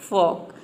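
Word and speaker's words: folk: लोग यहां पे देखिए फॉक फोल्क इसको प्रोनाउंस नहीं करते हैं इसको प्रोनाउंस करते हैं फॉक इसका एक और मीनिंग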